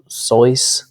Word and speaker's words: Seuss: supposedly in an interview he said it wasn't pronounced seuss it was like soyuz but i don't know